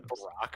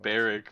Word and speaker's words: Barack: It's from Barrick, but okay. But it spelled like Barack. Barrick. Whatever. You could have spelt it like Barrick, but you spelt it like Barack.